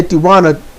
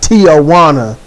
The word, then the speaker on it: Tijuana: Or I say it decently, maybe not correctly, but I say Tijuana decently, not Tijuana. You don't add letters where they ain't.